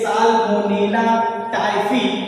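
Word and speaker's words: Salmonella typhi: तो टाइफाइड रोग जो है ये साल्मोनेला टाइफी, क्या बोले हमने, ये उच्चारण पे ध्यान दीजिएगा आप लोग, क्या होगा, साल्मोनेला टाइफी नामक एक जीवाणु होता है, हानिकारक जीवाणु होता है।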